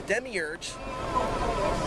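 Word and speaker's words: Demiurge: this dark Demi arge World Demi urge the Demi urge to say it properly is the equivalent of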